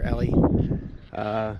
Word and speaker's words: Ely: But so I hitchhiked the last 50 miles, 48 miles, something like that, into Ely, or Ellie. It's pronounced, I guess it's pronounced Ely.